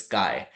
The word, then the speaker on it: chi: So Kai is a Greek letter word delta it is not chai it is pronounced as Kai.